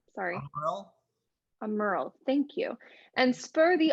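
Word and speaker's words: Aumerle: sworn how do you say his name sorry a merle thank you and spur thee on with full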